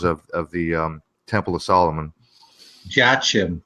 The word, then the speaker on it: Jachin: Jachin. That's the most common pronunciation.